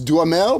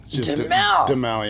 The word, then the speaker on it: Duhamel: Well, if you're in France, I think it's Damel, but we've always said DL. Demell. Yeah. Because our mutual friend Sam Macaroni. Yeah. He He always called you Josh Demell.